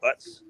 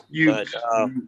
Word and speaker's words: Ute: He plays for the Utah Utes or Utes. That's how you pronounce that damn team name. Utes. Utes.